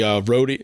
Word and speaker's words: Roadian: and check out the Roadian. Am I saying it right? It's Roadian, right? Roadian MTX? Yes, Roadian MTX.